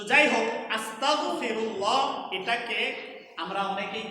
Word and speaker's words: আস্তাগফিরুল্লাহ: এজন্য উচ্চারণের ক্ষেত্রে খেয়াল রাখতে হবে যেন এটা আস্তাগফিরুল্লাহ না হয়, এটা যেন হয় আস্তাগফিরুল্লাহ। তাহলে আমরা সবাই একবার আমার সাথে একটু বলি, আস্তাগ আস্তাগ আস্তাগফিরুল্লাহ আস্তাগফিরুল্লাহ। গ দিয়ে হবে আস্তাগফিরুল্লাহ।